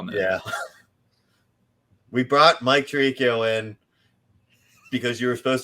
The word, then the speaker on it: Tirico: to retire we brought Mike tarikio in like that's not how you say his name it's fine you have trouble with names we all know yeah we brought Mike Tirico in because you were